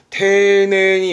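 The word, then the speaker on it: 丁寧: 그래서 테네다람은 정중하다 또는 공손하다 내지는 테네니 오시에로 한다 그러면 가르칠 때에 뭔가 세세하게 주의 깊게 라든가 상당히 폭넓겠습니다.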